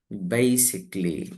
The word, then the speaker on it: basically: So here y is pronounced as e, basically.